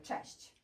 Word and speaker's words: cześć: Let's pronounce this word together, cześć.